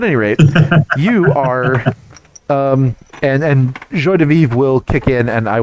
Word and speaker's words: joie de vivre: And I am attempting to use my jaune de vivre. Ah, yeah, those words. Yes. I've tried to pronounce that correctly. Yes. Joie de vivre.